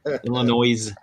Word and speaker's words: Illinois: not pronouncing the S, and that's all that matters. Illinois.